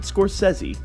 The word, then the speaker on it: Scorsese: of crazy but not every director is Martin Scorsese talking to me some people pronounce it Scorsese his films are very violent always messy he